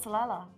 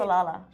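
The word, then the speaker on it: Salalah: live your life in salala exactly why am I saying it salala I think you said it right salala salala don't live your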